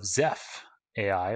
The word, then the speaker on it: Zeff: And so more recently, you were also the co-founder of zeff.ai or zeff.ai, an AI company. First of all, how do you pronounce it properly?